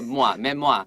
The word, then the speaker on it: memoir: 这个比较复杂一点，这个发音比较像是 r 的发音。So 你要做什么？就是 memoir oir 画一条线，然后写一个 ar，所以未来不要忘记这发音是比较特别，不是 memory 就是 memoir。 memoir 有点像那个 moi 的感觉，很像是给人家 moi 一个 moi 一下那种那个 memoir，这样就记，也许是一个很好的记法。